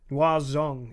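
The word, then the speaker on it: Người rừng: Yeah, Batututs and the Ngoa Zong, and it's spelled Ngui space Rung, but it's pronounced very differently.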